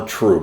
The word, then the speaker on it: trub: And when you do that, you're going to get what's called trub, more trub, a higher trub content. TRUBE. TRUB, I think it is. TRUB. I think it is, but it's pronounced trub.